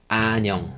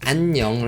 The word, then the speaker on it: 안녕: I mean is that there are double nasal Sounds here in the first two syllables anyong but this learner just pronounced one nasal sound like anion it is one of